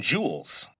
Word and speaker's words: joule: Now, e is measured in joules. Let me spell that because it sounds like j e w e l s. But, it's based on an old scientist's name, and so, his name was joule, j o u l e.